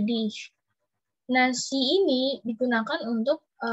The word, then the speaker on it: Dich: Dan di sini Dich, dibacanya kayak ada S, ada H-nya gitu, Dich.